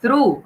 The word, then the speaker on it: through: to her oh okay through okay only one one syllable through through through through through okay